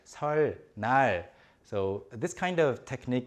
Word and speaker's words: 설날: 설날.